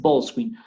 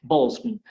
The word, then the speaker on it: ball screen: que sigue, que es ballscreen, pero también no es un ball screen, sino balls screen. Siempre acentúo la primera partícula.